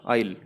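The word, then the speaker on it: aisle: Hallway का मतलब होता है गलियारा, आइल, ठीक है। आइल, आइल इसकी प्रोनाउंसिएशन होती है रास्ता।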